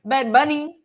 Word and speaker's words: Bad Bunny: to join Bad Bunny I like how you put emphasis on the end of it bed bunny yeah exactly that's that's